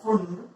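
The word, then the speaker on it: Pfund: The hydrogen spectrum consists of many lines called Lyman, Balmer, Paston, bracket, Fund, P-F-U-N-D, P silent रहता है, Fund and Humphrey.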